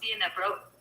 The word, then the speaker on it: Dnieper: Dnieper. Según Wikipedia, el Dnieper pronunciado NG, P en ruso, DNPR, Dnieper. En bielorruso, Dnipro. En ucraniano, Dnipro, es un río de Europa